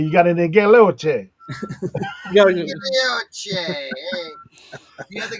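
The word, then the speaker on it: guilloche: Gilioche. There you go. Yes. That's 100% how it's pronounced. I don't even Next time I go to the yard sale, I'm gonna say you got any Galoche.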